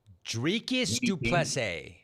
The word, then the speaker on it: Dricus Du Plessis: Dricus Du Plessis. Du Plessis, yeah.